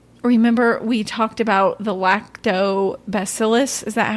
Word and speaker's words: Lactobacillus: Remember, we talked about the lactobacillus. Is that how you say it? Lactobacillus, yes.